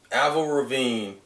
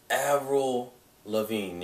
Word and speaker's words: Avril Lavigne: two things is that aval ravine was a pretty sure I'm mispronouncing the out already avril lavigne yeah I believe that's how you pronounce it is actually going